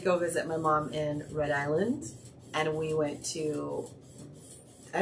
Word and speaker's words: Rhode Island: mom was living in Rhode Island and that's how they say it it's not Rhode Island it's Rhode Island like New Orleans it it's New Orleans not New Orleans okay now that we've